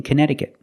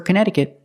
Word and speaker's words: Connecticut: remember the pronunciation for Connecticut it's a strange one not Connecticut but Connecticut the second C is silent and the T after that c is pronounced with a fast D sound so together Canada it's